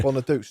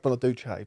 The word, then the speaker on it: Bonaduce: Bonadouch. Not Bonaduche. Bonadouch.